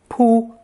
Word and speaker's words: 卜: This element is pronounced pu and appears on the right side of many characters, referring to beating or punishment.